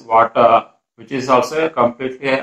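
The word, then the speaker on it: Watir: So water is also can be pronounced as water, which is also a completely open source automation tool.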